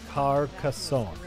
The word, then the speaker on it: Carcassonne: Carcassonne. is how it's pronounced.